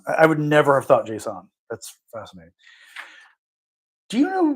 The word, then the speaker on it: JSON: And how do people pronounce it? JSON or Jason? JSON's how I've heard it pronounced, but God knows. Yeah, interesting. They both seem fine. Oh, okay. But you've never heard Jason? I've probably heard it, but I think most people say JSON.